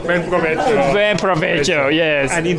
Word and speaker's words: buen provecho: Buen? Provecho. Buen provecho.